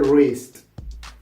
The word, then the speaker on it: wrist: So usually when you see a word starting with the WR, the W it's not pronounced.